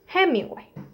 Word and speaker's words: Hemingway: Ernest Hemingway. ¿Cómo se escribe?